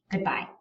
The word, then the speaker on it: goodbye: Think about the word goodbye. That is a classic iambic syllable combination. We say good, we're not stressing anything, and then we really do stress the bye.